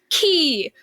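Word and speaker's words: ki: like a Dragon Ball Z like people who pronounce it Chi people who pronounce it CH and then somebody and then another one people who pronounce it correctly key like it is it's so funny um um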